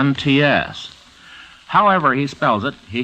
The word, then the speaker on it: Laurents: The author pronounces his last name like Gertrude Lawrence or Lawrence of Arabia, but he spells it Laurents.